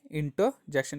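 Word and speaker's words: interjection: वह इंटर्जेक्शन क्या है इंटर्जेक्शन इसमें भी आर साइलेंट रहता है हम क्या करेंगे यह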